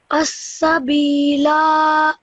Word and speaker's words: السبيل: السبيل Perfect, really good. Okay, this ya madda you stretched for 2 seconds, and this alif madda you stretched for 2 seconds as well, which is really good.